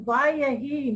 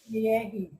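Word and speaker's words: וַיְהִי: It's Vayahi, not Yehi. It's the vav though is the word and.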